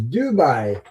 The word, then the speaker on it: Doubai: It's the same way you pronounce it. Dubai. You just put an O in front of the U.